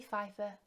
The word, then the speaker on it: Pfeiffer: So this is a kit, and this is by Valerie, Pfeiffer, Harmonies.